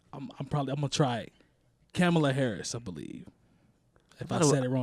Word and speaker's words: Kamala: Kamala Harris, I believe. If I thought it said it wrong, I apologize. Maybe I thought it was That's Kamala.